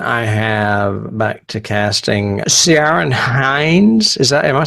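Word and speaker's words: Ciarán: But I'm not sure if it's Ciaran or Karen. It may be Karen. It may be Karen because I may be saying it wrong. It's Ciaran, and there's a hyphen over, not a hyphen, an accent mark over the second A.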